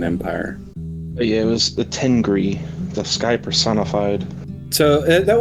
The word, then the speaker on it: Tengri: If I remember correctly, that god was Tengri, or the old pronunciation would be Tengiri.